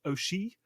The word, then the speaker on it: Ouchy: And during the rest period, teams were moved to the port of Auchy, spelt Ouchy, in Lucerne, Switzerland, and